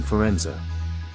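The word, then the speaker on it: Firenze: till the end Florence the Italian city is pronounced in Italian Forenza is the capital of Tuscany Central Italy built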